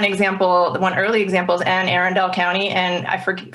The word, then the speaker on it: Anne Arundel: one early example is ann arendell county and i forget forgive me if you live in maryland and that's not how you pronounce that county but anne arundel it is okay that was